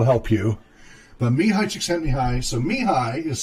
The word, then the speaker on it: Csíkszentmihályi: so it looks like me Haley but it's pronounced me hi mih a ly Csikszentmihalyi so if you want to hit and start me hi Csikszentmihalyi so ha so chick is si si que